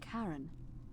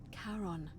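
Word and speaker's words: Charon: it's just as you described it only your pronunciation is a little off the name you heard wasn't Karen it was c h a r o n as in karon the Fairman of the Dead Caron who in exchange for the right coin helps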